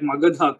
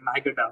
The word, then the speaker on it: Magadha: so they don't even get the pronunciation of basic words like magadha correctly they say my guitar for example which is